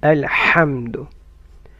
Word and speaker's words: الحمد: ح should come from mid of the throat. الحمد، الحمد لله.